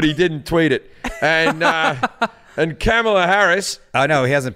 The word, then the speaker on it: Kamala: It's not Kamala. Kamala. Yeah, Kamala.